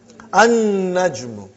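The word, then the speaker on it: النجم: An-najmu. You did not pronounce lam because noon is a shamsi, sun letter.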